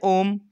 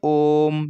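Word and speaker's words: ओम्: बोल देते हैं ओम, लेकिन इसका जो प्रोनाउंसिएशन है, जो उच्चारण है वो ओम नहीं है, इसको बोलते हैं हम ओम। यानी ओ का जो साउंड है, ओ की जो ध्वनि है वो 3 गुने खिंचनी चाहिए, तब बोलना चाहिए।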